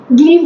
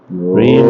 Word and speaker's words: ह्रीम: ये गलत बात है, गलत मंत्र का गलत उच्चारण नहीं कर सकते। ऐसे वो हीम हीम करते हैं आठ मैं में बताता करते हूँ जा क्या रहे होता है। ह्रीम क्लीम।